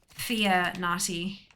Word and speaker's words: Fianati: Illuminati, like Illuminati. Yes, except it's spelt Fia, as in Fiamma. F-I-A. Fia-nati.